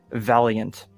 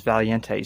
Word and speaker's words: Valiente: I kept saying Valiant, but in actuality it is Valiente, so that is on me, and I apologize to all the Hispanic people in my audience.